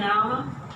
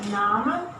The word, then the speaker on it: Name: So you say Name, not Nam, like in Hindi. Nam. Name. Everything is pronounced in Name. Even this E, you may think, oh, I don't need to pronounce.